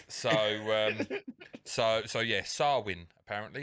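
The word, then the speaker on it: Samhain: go about pronouncing it swin you don't want stress on the I mean I could have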